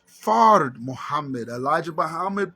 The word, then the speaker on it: Fard: So the name Fard Muhammad is pronounced Fard. Fard. The R is rolled. The Honorable Elijah Muhammad pronounced it wrong. He said Farad.